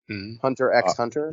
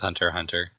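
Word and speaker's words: Hunter × Hunter: tournaments but do you you don't pronounce the x hunter x hunter yeah i've always saw hunter x hunter but is it just hunter hunter it's just hunter hunter okay i must have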